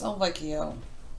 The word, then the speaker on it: Elvio: Voda or Al vioa how does his name say cuz he never said it properly has he and he always it's good a while style he has said it right it's Elvio Elvio oh low blow okay